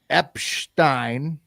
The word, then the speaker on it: Epshteyn: It's Boris Epshteyn. It's like Epstein mixed with Einstein.